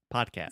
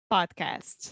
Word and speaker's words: podcast: yeah, this is a hard D, pod. Also, the first vowel sound is an open A, just like prato, chato, podcast. It's not podcast, but podcast.